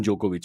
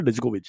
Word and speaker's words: Djokovic: maybe on But for court- Indians, I just want to point out the D is silent. In Djokovic. It's not Djokovic. That's why people keep driving me nuts with the Djokovic. He'll win again, no? Djokovic.